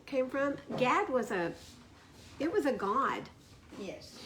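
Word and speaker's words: גד: Hebrew, you don't say Gad. You pronounce it God. God. Like you do in Spanish.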